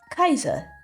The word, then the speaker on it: Caesar: really German for instance Kaiser that how it's spelled it came from how you pronounce Caesar in Latin which is Kaiser waiter I think